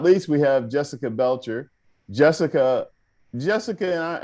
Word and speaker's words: Belcher: least we have jessica belcher jessica jessica am i pronouncing your last name correct yes yes belcher just like because i did not